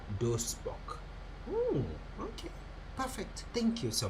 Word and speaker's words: Duisburg: In German, Duisburg is pronounced as Duisburg.